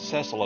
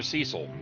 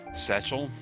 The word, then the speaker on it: Cecil: The name's Cecil of Baron Castle. Or Cecil. Either way is correct. Though I did hear someone in a stream or something pronounce them Setchel or Sechel or some shit like that, and I thought I